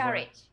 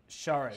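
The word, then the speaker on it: Šarić: Sharich. Say it again. Sharich. Sharich. So the first letter has a thingy on the top, so that's not an S, but it's like sh in sheep, I would say.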